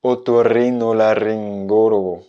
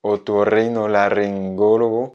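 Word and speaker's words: otorrinolaringólogo: Tout simplement parce qu'il est intéressant, il y a pas mal de R à l'intérieur et j'ai trouvé que c'était un super exercice de prononciation. Donc écoute bien et répète après moi. Otorrinolaryngologo. Otorrinolaryngologo.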